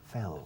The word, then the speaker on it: fell: El pasado del verbo to fall es fell. Fell. Fell. Fell. Como la primera sílaba de fellow.